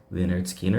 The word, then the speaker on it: Lynyrd Skynyrd: released only their first album which was called pronounced leard Skinner in 1973 and they were about to record